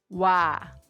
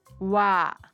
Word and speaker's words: 와: 와 is a combination of O and A. These sounds you are pronouncing O and A together, but with a W sound in front. 와, 와, 와.